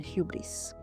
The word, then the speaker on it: hubris: Zola has called the project hubris using the Greek pronunciation hubris.